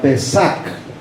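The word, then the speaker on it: פסח: es la palabra hebrea la palabra en hebreo que se pronuncia pesaj la palabra pesar en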